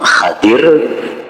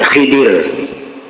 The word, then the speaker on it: Khidir: dengan gelar Khidir jadi membacanya ada dua cara yang pertama Khadir nabi Khadir atau Nabi Khidir k nabi Haidir jadi